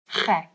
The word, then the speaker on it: gek: And gek is also a bit of a gek word to know because it's of the ch sound and the ek, which means me.